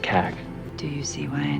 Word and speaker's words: CAG: It it's pronounced kag.